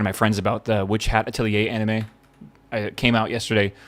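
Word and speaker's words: Atelier: Witch hatilier. Yeah, I think it is that how you say it's a French word, right? Itilier.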